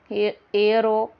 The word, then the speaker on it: heir: Heir to, उत्तराधिकारी होना, here h is silent, we pronounce it heir.